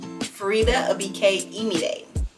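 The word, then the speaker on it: Faridah Àbíké-Íyímídé: say her name and her name is farita a ID farita a ID day yeah that's it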